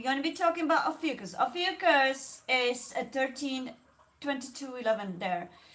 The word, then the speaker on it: Ophiuchus: It's spelled OPHIUCHUS, Ophiuchus.